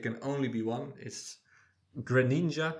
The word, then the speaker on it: Greninja: only be one is Greninja I would say pronounce it yeah grin like the Pokemon Greninja Greninja yeah he bought he's